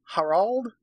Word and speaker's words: Harald: Harald? Harald. It's spelled with 2 A's.